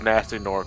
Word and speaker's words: Gnasty Gnorc: Which we know is supposed to be pronounced as Nasty Nork, but...